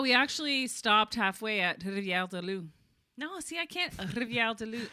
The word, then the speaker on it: Rivière-du-Loup: I feel like it's weird because you don't roll your R's in English. So it's like you're going through do talking da da da da and Rivière-du-Loup.